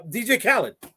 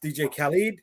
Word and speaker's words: Khaled: another one oh my God uh uh uh DJ Khaled right who actually pronounced DJ Khalid hey I didn't know I was wrong but